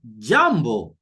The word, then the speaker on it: jambo: An example is O in the Swahili word jambo. Jambo. I'm sure you've heard the word jambo, meaning hello or hi. Jambo. Jambo. And the response is jambo. You see here? Is that sound O.